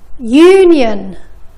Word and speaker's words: union: ولكن اسمعوا هالكلمتين: union universe. حرف اليو ما نطقناه ك أ ولكن ك يو.